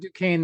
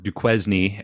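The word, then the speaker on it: Duquesne: Fort Dukane or Fort Dquznney as uh those who wouldn't don't know how it's pronounced might say it because that's how it's spelled.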